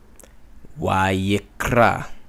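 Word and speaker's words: וַיִּקְרָא: It sounds like vayikra. That is because you're pausing slightly and then flowing again. Vayikra. Kra, vayikra. The aleph is silent because it came off of this basic word, ra, a, ra, a. The he is dropped.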